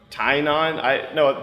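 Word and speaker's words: Tynion: It's co-written by number 4, which is the James, I can't pronounce his last name. He told me like 3 times at San Diego. Tynon.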